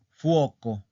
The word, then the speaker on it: fuoco: Por ejemplo, tenemos una palabra plana que es fuoco, fuoco. La sílaba tónica está en la penúltima. ¿Ok? La sílaba tónica es la penúltima. ¿Ok? Es fuoco, fuoco. Entonces, la sílaba tónica está en la O.